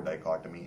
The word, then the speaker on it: dichotomy: dichotomy of life i've used this word before dichotomy and other explanations if you don't know this